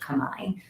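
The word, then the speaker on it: Khmer: apologize what is this the local language it's Kamai it's spelled KH hm R so phonetically would be C but it's most often pronounced Kamai so it's the Kamai language they refer to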